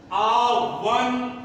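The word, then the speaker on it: one: ध्यान दीजिएगा ये दोनों शब्दों पर, ये वन जहां पर ओ का उच्चारण ओ न हो, बल्कि ओ के बजाय वाह होता है, उसके पहले ए का प्रयोग करते हैं।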